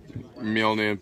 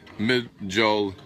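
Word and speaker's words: Mjölnir: And correct spelling is Mjolnir, pronounced Mjolnir.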